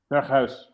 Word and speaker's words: Berghuis: to, Bergwijn, Kudus, Tadic, and I think it's Berghuis from PSV. That's how you pronounce it. Berghuis.